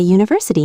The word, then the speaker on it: university: She studies at a university in Delhi. A university, not an umbrella. University sounds like you, a consonant sound.